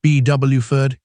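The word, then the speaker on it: Beaufort: Bofort, pronounced Bwford, isn't just a town.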